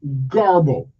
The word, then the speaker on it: garble: of the day is g-a-r-b-l-e g-a-r-b-l-e it is pronounced Garbo okay and what does it mean well it